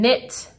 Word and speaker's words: knit: So like the KN in gnat, nope, the GN in gnat, the KN in knit.